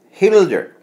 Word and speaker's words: Gelder: a Dutch surname, Gilder, Gelder, like the coin. Oh, Gilder. Oh yeah, which should be pronounced Hilder, H-E-L-D. Yeah, Hilder. What? What? Yeah. Like, yeah, Dutch always sound like they're hacking up a loogie when they are.